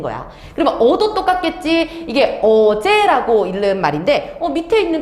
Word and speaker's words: 어제: 자, 첫 번째, 생종, 엉쟁, 훈민, 정흠 이렇게 읽으면 안 됩니다. 왜냐? 세종, 어제, 훈민, 정음이라고 읽어야 되고, 그러면은 너네들의 막 머리를 아프게 하는 게 세와 어와 제입니다.